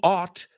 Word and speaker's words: ought: So what am I saying? You ought to know that sound. You ought to know. Deberías. You ought to. Suena igual que eso, que se escribe O-U-G-H-T.